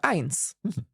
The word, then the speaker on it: ein: Or when we count, we have eins.